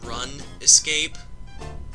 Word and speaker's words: RuneScape: God, am I getting nostalgic over Run Escape? Because that was the actual pronunciation of the title. Run.